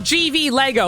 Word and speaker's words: GV Lego: Oh, GV Lego. Literally pronounced the letters.